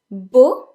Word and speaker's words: beau: its feminine version from its masculine it is boo boo which means handsome or Belle Belle which means beautiful so bull is pronounced like be all nah scratch that I've